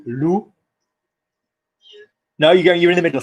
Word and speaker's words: lu: How do you say TU? Nice. Yeah. How do you say I've read? As in I have read a book. J'ai. Nice. Not you, lu.